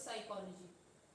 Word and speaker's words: psychology: So what is psychology? Huh? P is silent.